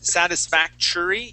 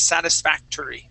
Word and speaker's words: satisfactory: You had said satisfactory using a CH sound here at the end. Okay. The word is satisfactory.